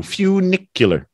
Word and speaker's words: funicular: I'm wrong not funicular what is it again funicular few like a like a ew funicular you you few nicular Lily funicular Railway yeah